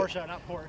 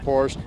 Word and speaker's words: Porsche: That's the correct way to say it. Porsche, not Porsche.